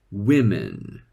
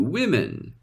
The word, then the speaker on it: women: changes but weirdly enough although only the second vowel changes only the pronunciation of the first vowel changes one more time one woman two women all right so the